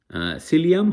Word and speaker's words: psyllium: কিন্তু ফার্স্টে হয় সাইকোলজিতে, এইখানেও কিন্তু সিলিয়াম হাক্স, তার স্পেলিংটা হচ্ছে PSYLLIUM HUSK, কিন্তু উচ্চারণ হবে সিলিয়াম হাক্স। পি এর উচ্চারণ কিন্তু এখানে হবে না।